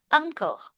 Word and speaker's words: uncle: This is pronounced as uncle. Uncle. Uncle. Yeah. No need to say un, but uncle. Uncle. Very good. Yeah. It's like the NG sound.